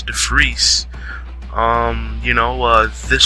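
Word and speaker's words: De Fries: defreese it's funny because it's spelled the fries but it's the freeze um you know uh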